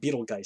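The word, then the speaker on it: Betelgeuse: He pronounces it Beetlejuice because it's not spelled like this. It was spelled Betelguise, Beetlejuice.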